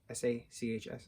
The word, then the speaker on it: Sachs: Jed Reese, Robin Sachs, S-A-C-H-S, Sachs, Robin Sachs, Patrick Breen, Missy Pyle, Justin Long, Rainn Wilson.